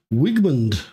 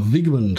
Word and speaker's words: Wigmund: my name is welcome to wigman or Vigman I think it's Vigman the way you pronounce it all right so this